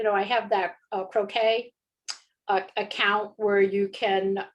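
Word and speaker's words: croquis: think they pronounce it croquet i would have probably pronounced it crocus because that's the way it's spelled c-r-o okay q-u-i-s and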